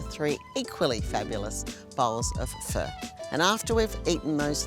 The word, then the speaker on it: pho: to say it now I've been calling it faux and it's actually pronounced fur and I have been practicing and practicing I've got a way to go but let's try it again for fur fur so this is